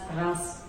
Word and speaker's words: Reims: We pronounce it as Ruina, and we pronounce the city as Reims.